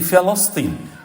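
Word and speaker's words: فلسطين: By the way, Palestine, the right pronunciation, we all make this mistake. بكسر الفاء وفتح اللام. You say Palestine.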